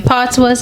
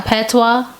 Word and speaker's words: patois: because the S is silent, like patois.